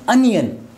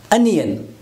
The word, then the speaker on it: onion: give some more example a word that is commonly mispronounced this one I have discussed in commonly mispronounced words we normally pronounce this word is only n oh I will discuss after this date while some oh but this sound is not there in actual pronunciation in actual pronunciation to sound this one this curse sound onion this is a strong one onion right so what is